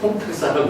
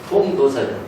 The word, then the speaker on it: 통도사: 어떤 사람은 이게 이제 도자를 탁자라고 읽어요. 그래서 잘못 읽으면 통탁사라고 그러는데 통도사죠.